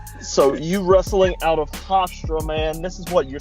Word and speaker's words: Hofstra: Hofstra. Hofstra, okay. Just making sure. I'm from the South and I don't pronounce shit right, so.